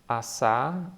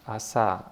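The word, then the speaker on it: עשה: here is an example Assa Assa you know all the letters here first one a in silent those T underneath they are a sounding vowels AA and the he at the end is always silent Assa Assa that means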